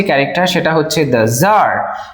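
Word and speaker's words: tsar: সবার প্রথমে যে ক্যারেক্টার সেটা হচ্ছে দ্যা জার। এই জার প্রোনাউন্সিয়েশনটা খেয়াল রাখবে টি এস এ আর জার।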